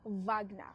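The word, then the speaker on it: Wagner: It's pronounced Vagna.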